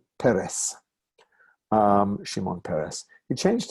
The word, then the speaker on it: Peres: name of shimon peres and you're not surprised anymore that a word with two cigars like that two vowels is going to be accident on the first syllable like my name this